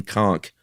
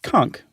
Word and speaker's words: conch: say conch right or we say conch conk that's what I always said but I also heard people say conch one time and I thought it was mispronouncing no they were they were dead wrong okay and this uh